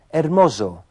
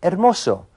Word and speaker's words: hermoso: Walter dijo hermoso con el sonido de una Z inglesa en vez de hermoso, que es como se diría correctamente en español.